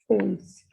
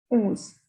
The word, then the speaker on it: onze: Number 11, it is ons. Ons. The pronunciation of O and N is on.